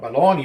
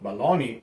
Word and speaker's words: Bologna: And I think it's called bologna, because bologna or whatever you call it, because the mortadella, that is supposed to be what bologna is supposed to be, the American version of